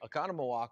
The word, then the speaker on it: Oconomowoc: wisconsin oconomowoc and also you said it right oconomowoc wisconsin and also in indianapolis indiana at the